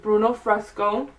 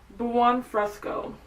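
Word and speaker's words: Buon Fresco: So to start off in our crease we're I'm going to go in with Bruno Fresco. No, it's not Bruno. Why do they call it Bruno? Buan Fresco.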